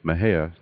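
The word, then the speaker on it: Mexia: theater 923 East Main Maha Texas my hair is spelled m x i a the zip 76667 6667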